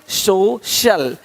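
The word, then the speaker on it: social: अब देखो, यदि सी के आगे आई ए हो तो सी का उच्चारण श होता है। क्या होता है? श होता है। क्या लिखा हमने? सोशल, सोशल, सोशल। तो यहाँ पे शल हो रहा है, सोशल, है ना?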